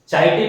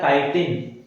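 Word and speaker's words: chitin: Fungus की cell wall बनी होती है काइटिन से, ये सेल वॉल बनी होती है काइटिन से, चाइटिन नहीं पढ़ लेना इसको, इसका प्रोनाउंसिएशन होता है काइटिन।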